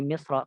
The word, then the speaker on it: مصر: التفخيم في مصر rajah ataupun harusnya fi Misra karena Misr itu kan dia mamnu min as-sarf. Jadi dibacanya لكن ذا التفخيم